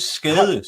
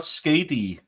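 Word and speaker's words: Skadi: No, she's skade. She's not skady. What is she? Skade. That's not a word. What are you saying? I'm saying skade.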